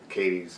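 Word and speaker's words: Cady: above KD K KD I was reading it as KD that's the way I was hearing it like uh um but then they kept calling her CAD yeah that was so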